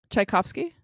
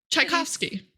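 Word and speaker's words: Tchaikovsky: goddaughter I'm going to highlight this can you pronounce this chaikovsky I made Jeff do that too and both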